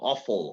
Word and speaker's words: awful: Awful, horrible, ¿sí? Awful, that's right. And notice the pronunciation, right? We have an A and a W, so the sound is O.